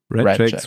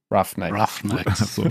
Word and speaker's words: Roughnecks: Ich sehe seinen Namen vor mir, aber ich weiß nicht, wie er ausgesprochen wird. Redjacks, Rednecks. Roughnecks.